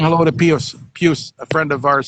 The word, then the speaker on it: Pius: Is it Pius or Pius? I pronounce it Pius, but he pronounces it Pius. So, I mean, I'm assuming he was named after Pope Pius, so, or Saint Pius.